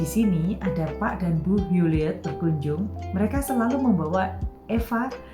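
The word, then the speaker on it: Huleatt: Bila Pak dan Bu Hewlett, tulisannya H-U-L-E-A-T-T, H-U-L-E-A-T-T, Hewlett, berkunjung.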